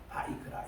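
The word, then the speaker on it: ויקרא: 이렇게 저들이 이제 있습니다 세 번째 책은 리비티그스가 아니고 레위디스라고 읽지 않고 이거는 하나님이 부르셨다 뜻입니다 하나님께서 모세를 부르셨다 바이크라 이게 첫 단어거든요 바이크라 따라합시다 바이크라 이거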